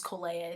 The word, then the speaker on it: Colea: My name literally is Colea. It's three syllables.